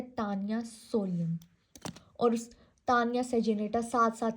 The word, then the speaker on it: Taenia: एक टेप form है जिसका नाम है तानिया। ठीक है? मैं तो तानिया ही प्रोनाउंस करती हूं। आप लोगों की मर्जी आप जैसे भी प्रोनाउंस कर लो। तेनिया होता है वैसे तो अच्छा तानिया सोलियम इन